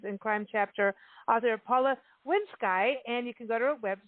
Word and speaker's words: Winskye: should have told you my name is pronounced winski i knew it i knew